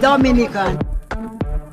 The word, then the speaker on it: Dominica: in for you okay boom we call it dominica yes the nature i love the caribbean it's rum punch time oh we call it dominican it is spelled d-o-m-i-n-i-c-e it is not dominican republic it